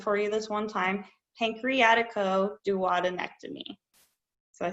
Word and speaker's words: pancreaticoduodenectomy: it a whipple procedure so one last time pancreaticoduodenectomy if you want to pronounce it correctly but you can just call